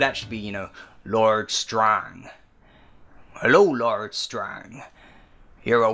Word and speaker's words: Strange: were part of, Lord Strang's men, which is spelt Lord Strange, but awesome as that sounds, it was pronounced Strang.